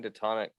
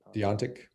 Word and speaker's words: deontic: Mark Antoine, can you define detonic for me? I've been looking around and I don't The know. what? It's intuitive. Detonic, ditonic, Deontic. Deontic. Sorry, I even said it wrong.